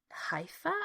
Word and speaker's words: Haifa: She's visiting her sister after getting out of a quite fractious love affair, and she's returning to Haifa, I think is how you pronounce the name of the city, to visit her sister.